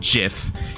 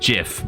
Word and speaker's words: GIF: And yes, I pronounce it GIF, not GIF, like the peanut butter. Okay, but I know the owner said GIF, but I'm allowed to be different.